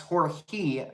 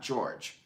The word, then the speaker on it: Jorge: the evening in Spanish Jorge's pronounced hoarse Kia not George thank you for that